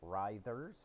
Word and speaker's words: Writhers: to point out that it's pronounced riders like a writhing corpse or mike tyson ordering the bread for a sandwich uh the band consists